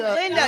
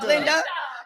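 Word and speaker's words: Lynda: Linda, not Glinda.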